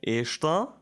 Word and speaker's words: está: Okay, está with the stress on the last.